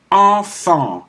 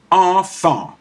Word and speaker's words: enfant: EN, EM, AN, AM, and some combination are pronounced en, like enfant, child. enfant.